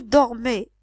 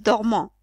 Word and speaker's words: dorment: dormons ou ns vous dormez Z il ou elle dorment ent c'est pas il dormant c'est il dorme faites attention à la prononciation d'accord donc ce verbe